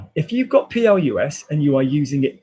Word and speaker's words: plus: I'm going to pronounce it plus.